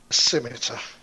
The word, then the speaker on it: scimitar: I didn't know I do you pronounce its skin meter or scimitar I say scimitar scimitar yes you can say however you like it's just scimitar um I I was